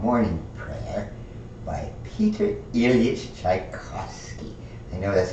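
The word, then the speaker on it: Pyotr: But yeah, the P-Y-O-T-R is usually just pronounced Peter, all right, and it is.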